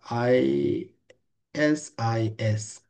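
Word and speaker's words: IS-IS: Intermediate system ইজ an older word for router, pronounced আইএসআইএস, এইভাবে pronounce করতে হয় আর কি।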